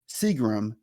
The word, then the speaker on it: Seagram: perspective thanks in advance Seagram pronounced like the alcohol yes I joined the